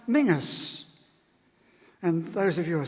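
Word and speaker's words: Menzies: if you name is menes we all know that word is in Scots languages pronounce Mingus and those of you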